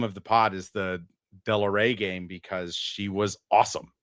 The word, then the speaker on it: Delaere: pronounced that it's uh Della Rey is the phonetic way to spell it.